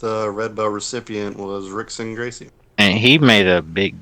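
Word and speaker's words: Rickson Gracie: name right yes please the r is pronounced like an h go ahead i'm waiting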